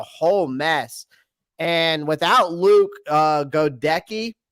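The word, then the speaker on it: Goedeke: And without Luke Godecki, how do you say it? Gedeke.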